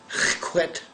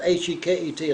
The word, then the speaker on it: Heket: goddess, whose name was H-E-Q-T. Y'all can pronounce that. H-E-Q-T. Heket. Also spelled sometimes H-E-K-E-T, like Heket.